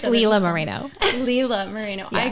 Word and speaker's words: Lila Moreno: please don't hate me i always get your name wrong it's okay it's leela moreno leela mourinho i call you lila more than